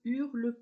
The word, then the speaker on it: hurle: h aspiré 1peler vous la lettre h ne se prononce pas en français donc vous vous demandez